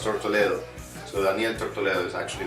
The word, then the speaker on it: Tortoledo: The release of this new project under my name, Daniel Tortoledo, well, I say Tortoledo because phonetically speaking in English it sounds more correct, but it's actually pronounced Tortoledo.